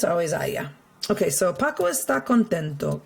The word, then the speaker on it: haya: So if you remember, it rhymes with vaya, and it's haya. And it's always going to be just haya.